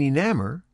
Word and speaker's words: enamor: Clamor and enamor rhyme with hammer.